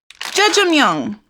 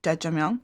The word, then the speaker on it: Jjajangmyeon: And today we have Jjajangmyeon.